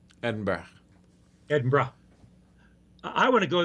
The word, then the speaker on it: Edinburgh: Edinburgh is Burra. Edinburgh.